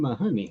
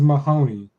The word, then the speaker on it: Mahoney: on my honey I'm my honey huh shows us training on my honey I think he means Mahoney oh Mahoney oh Mahoney well I see honey I I I pronounced it phonetically but yeah okay well